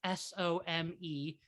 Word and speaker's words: SomeAnticsDev: It's SOMEANTICSDEV. But it sounds like semantics as in semantic markup.